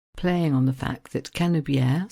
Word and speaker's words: Canebière: on the fact that canier so the name of the road in French rhymes with the French word for Hemisphere emisphere and making the